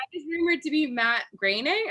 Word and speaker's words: Groening: rumored to be matt groening is that how we say his name i've never known it's greening my favorite line they